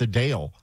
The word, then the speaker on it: Adele: exact same city because I guess yeah it's a Dale interesting right I never like you know but